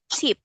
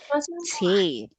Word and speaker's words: tape: Okay, because for paint you say it like pens, and for tape you say it like tap or tip. So practice words with long A sound. So make it long A.